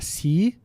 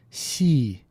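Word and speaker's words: 시: Em vez de falar Si, a pronúncia correta é Si.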